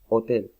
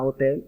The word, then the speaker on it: hotel: La siguiente, hotel, ¿sí? En inglés no se dice a hotel, no, es a hotel. ¿Listo? Con J.